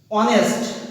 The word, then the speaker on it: honest: This word will pronunciate honest, not honest, not honest. For this, you have to write N. Though we know that H is a consonant, but for pronunciation honest, we have write N.